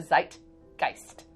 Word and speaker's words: Zeitgeist: help me here but Zai it's a long I actually die so zeit Geist Zeitgeist yes that's not the English language right that is German it's like Geist I